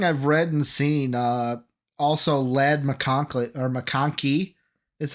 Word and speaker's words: McConkey: I mean, like from everything I've read and seen, also Lad McConkey is how you say it, out of Georgia.